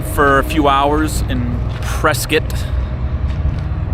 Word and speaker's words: Prescott: we hunkered down for a few hours in Prescot not Prescott for all you Northerners it's called presc or pronounced Prescot but we uh we found this